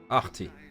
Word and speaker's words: Ahti: I'm Ahti. Artie. Okay. I'll pronounce it correctly from now on.